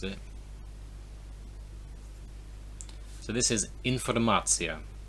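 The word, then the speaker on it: информация: So this is informacja. So lots of the words with shun at the end in English, information, nation, they're basically always the same in Russian.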